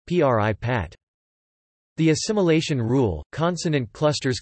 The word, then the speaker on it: prípad: For example, p-o-h-y-b is pronounced pip, and prepad is pronounced p-r-i-pat.